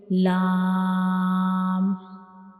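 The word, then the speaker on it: ل: Now next letter is lam, lam, lam. So when we pronounce lam, the tip of the tongue will touches the back side of the gum that is back side of the upper front teeth.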